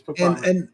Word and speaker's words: Papale: Papale. Yes, Papale.